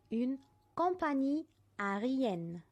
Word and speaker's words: compagnie aérienne: يعني une compagnie aérienne. une compagnie aérienne. شوفوا بنطقها ازاي.